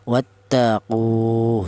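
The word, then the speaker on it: واتقوا: Berhubung ada wunnya mati ya berfungsi sebagai mad thobi'i atau berfungsi untuk ee memanjangkan bacaan. Maka qu ini dipanjangkan dua harakat. Wattaqu seperti itu.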